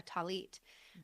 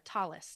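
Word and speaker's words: tallit: in a prayer shaw, a talit um or a talis depending on your pronunciation.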